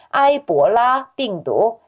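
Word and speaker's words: 埃博拉病毒: 아이보라 빙두. 에볼라 발음 비슷해요.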